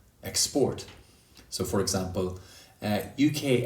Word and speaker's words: export: yellow handsome dancer also for words that can be used as both verbs and nouns for example export export the noun has stress on the first syllable export and the verb tends to have stress on the second syllable export so for example uh